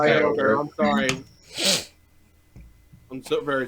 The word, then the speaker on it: Kyogre: Okay, it's actually Kyogre. It's actually pronounced Kyogre.